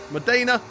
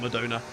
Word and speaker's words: Modena: Fratton Park, Modena, not Madonna.